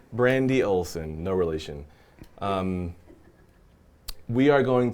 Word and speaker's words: Oleson: say your last name actualize Olson oh that's much simpler than I thought the ESS the E is silent brandy Olson no relation we are